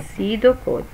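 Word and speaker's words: pseudocode: طبعا البي سايلنت لا تلفظ فبنحكيها سيدو كود، سيدو كود.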